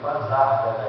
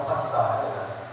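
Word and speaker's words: Pasárgada: A pronúncia é essa mesmo, Pazárgada, e não Pazárgada.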